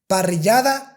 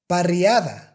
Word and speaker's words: parrillada: The correct way to pronounce these sounds is lluvia, ella, parrillada, haya.